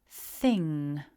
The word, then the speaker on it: thing: is thing top tip don't try to pronounce a big hard g at the end it's not a g it's just that ending another thing that's worth